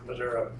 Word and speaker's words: Missouri: D Highway Richards Missouri how long you say Missouri I don't have to get used to that